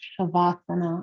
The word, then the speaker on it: shavasana: relaxation position in Sanskrit it is shavasana or savasana depending on your pronunciation and what that means